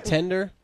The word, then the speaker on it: Tinder: just play and it's like it's like tender not the way it's spelt the way that um t-pain pronounces it t-i-n-d-e-r okay check it out